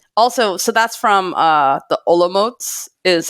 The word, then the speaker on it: Olomouc: Also, so that's from the Olomots is how it's pronounced. Olomouc, I always said it, but that's the alternative